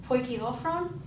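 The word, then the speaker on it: ποικιλόφρων: That means that in a stress, I would go poi, ki, lophron. So I've stressed the first syllable, not the second, and then lophron.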